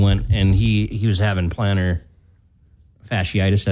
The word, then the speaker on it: plantar fasciitis: My dad actually went, and he was having plantar fasciitis. Is that how you say it? Yeah. That's plantar fasciitis.